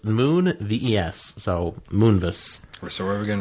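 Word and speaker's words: Moonves: according to CBS Corporation Les Moonis I don't know if I'm pronouncing that right but it's Moon VES so moon or so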